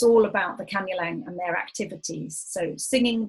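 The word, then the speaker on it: Kanyeleng: word throughout the presentation is it kanu lang k-a-n-u-l-e-n-g or kaniling k-a-e-n-i-l-i-n-g oh yeah sorry um it's kanye lang k-a-n-y-e-l-e-n-g kanyeling okay in fact our colleague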